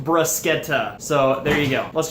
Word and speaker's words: bruschetta: a toaster oven so that's great also it's pronounced brascetta so there you go let's jump into the prep brusketta is a simple dish that requires only a